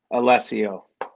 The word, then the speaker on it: Allessio: to say no but you pronounce my last name wrong - Matt I'm disappointed I don't like how I pronounce it Alessio and what do I